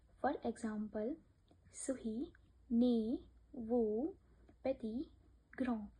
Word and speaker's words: petit: For example, souris, né, veau, petit, grand. In these words, we don't pronounce last letter.